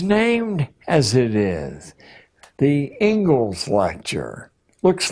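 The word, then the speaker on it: Inglis: in education is named as it is, the Engles lecture looks like English, but it's pronounced Engles.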